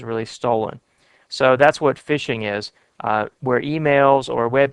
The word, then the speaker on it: phishing: form which is called phishing it's spelled pH is H ing but they say phishing and this is where